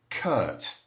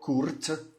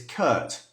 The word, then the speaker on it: curt: But it's curt. Okay? We don't pronounce the R. It's this sound, like in first. Curt.